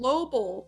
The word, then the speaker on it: Lobel: He can be like Arnold Lobel, right?